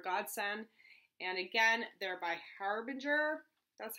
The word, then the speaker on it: Harbinger: And again, they're by Harbinger. That's how you pronounce it.